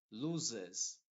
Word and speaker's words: loses: va a salir Mejor loses aquí por ejemplo las dos s se están pronunciando como una set inglesa changes nos nos aquí